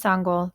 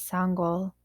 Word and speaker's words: Sangoel: next my name is sangol he said before the coach could say it wrong as sangol walked home from practice one of his teammates ran up hey sango my name is sangol he called softly as